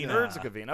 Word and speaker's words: Herzegovina: How do you pronounce it? Herzegovina.